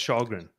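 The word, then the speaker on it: Källgren: K-A-L-L. That's Shalgren. That's how you pronounce it. How do you get Shalgren out of that? That's a K. You Swedish.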